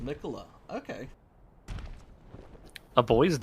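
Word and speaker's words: Miquella: Oh, it's pronounced Mikola.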